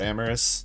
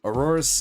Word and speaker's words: Aurorus: There's no Pokemon called Amorous. Have I been saying that name wrong this whole time? What's the first evolution in that then? Aurorus, and then what's the little one? Amora. I mean, I was close. I was adding on an S for no reason.